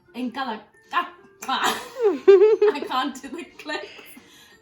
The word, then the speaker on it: Nkalakatha: It's called, so it's by an artist, Mendoza, He's a South African artist, and it's called Nkalakatla. I can't do the click. Nkalakatla. Okay. Anyway, it's spelled Nkalakatha.